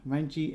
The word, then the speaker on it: Ranjeet: there obviously and um film director and writer renji s and i hope i got that right